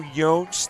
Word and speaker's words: Yotes: I know it is go Yotes, that's the pronunciation.